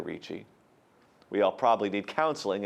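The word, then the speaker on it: Ricci: Holy Family With Angels by Sebastiano Richi pronounced like Christina Richi we all probably need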